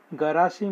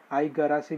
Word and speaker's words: Igarashi: तो उसमें पहले स्टॉक का नाम है गरासी मोटर्स इंडिया, उसमें आई साइलेंट है, आई गरासी भी बोलते हैं बहुत सारे लोग, आई गरासी मोटर्स इंडिया ये स्टॉक है जो पहला स्टॉक रहेगा।